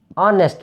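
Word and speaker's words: honest: অনেস্ট ম্যান, এইচ উচ্চারণ হচ্ছে না, না হয়ে অনেস্ট ও উচ্চারণ হচ্ছে, তাহলে এইচটা উচ্চারণ হচ্ছে না বরং ভাওয়েলটা উচ্চারণ হচ্ছে, কাজেই এটার আগেও এন হবে।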